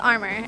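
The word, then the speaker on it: Armour: your song it's called armor and it's kind of a play on word it's pronounced armor but it's spelled a r m o u r clever it's a play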